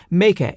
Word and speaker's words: Meike: this one right here this is the me that's how they pronounce it me 85 1.4 and as